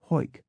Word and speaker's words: Howick: Howick is Hoik.